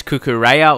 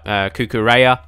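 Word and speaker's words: Cucurella: pronounce his name and it's cuckoo Raya or something like that without the Spanish accent obviously I don't have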